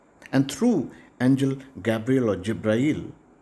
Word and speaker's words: Jibrail: And through angel Gabriel or Jibrail, in Arabic this name is pronounced differently. Gabriel is called Jibrail, and the verses were revealed to Prophet Muhammad from time to time through Jibrail or angel Gabriel.